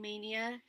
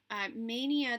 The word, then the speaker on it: Maynia: Happy May, happy Mania to everybody who's doing Mania in some way. Mania, there's a group on Facebook called Stitch Mania, and it's spelled Maynia. And if you aren't familiar